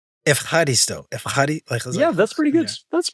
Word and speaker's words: ευχαριστώ: You say ευχαριστώ. Means thank you. It's a difficult one. Say it. Say it again. Ευχαριστώ. Ευχαριστώ.